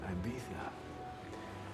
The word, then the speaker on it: Ibiza: behind though word that might get stolen it's pronounced ibiza you wouldn't want any of these folks you're